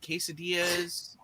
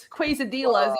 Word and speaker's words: quesadilla: I was gonna say everybody knows that Colombia is known for burritos and quesadillas. No, Dan, and nachos. You're killing me, Dan. quesadillas.